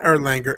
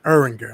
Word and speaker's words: Eringer: victim says that uh not erlanger erringer eringer i'm sorry i mispronounced i just call him